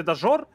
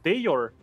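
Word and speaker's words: Dajor: Вообще, кстати, Дажор, мы его так, знаешь, как-то русифицированно произносим. Но вообще никнейм его произносится как Дейор.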